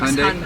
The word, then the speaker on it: Hyundai: How is it pronounced? Hyundai.